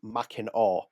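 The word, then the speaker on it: Mackinac: So, it's machin that is written pronounced it's Yeah, it's pronounced machin island fudge or verer's ginger ale.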